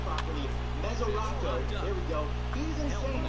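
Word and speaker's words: Mesoraco: Mesorasko.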